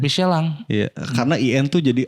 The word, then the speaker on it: Michelin: ini gua Anjing apa Michelin tuh harusnya michelang Bang serius lu emang itu Prancis Michelin itu Prancis Michelin ban ban michelang sebutannya michelang Iya karena in tuh